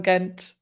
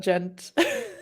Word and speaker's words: Gent: again great seo wait i'm pronouncing his name the german way uh so he's british probably gent what did you say kent but it's gent and i'm so german these days i'm so